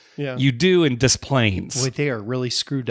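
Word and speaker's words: Des Plaines: to pronounce Plains yeah you pronounce the S even though you don't pronounce pronounce the s in Illinois you do in dis planes wa they are really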